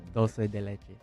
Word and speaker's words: dulce de leche: Dulce de leche. Dulce de leche. Oh, okay. All right, boys. There's an L. Dulce. All right. I always thought it was Italian. No. That's dolce. Yeah. They pronounce dolce.